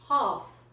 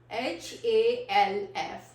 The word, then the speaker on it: half: Next word is half, H-A-L-F, half. हम लोग half pronounce नहीं करते, तो हमारा यहाँ पे we always drop L, so A.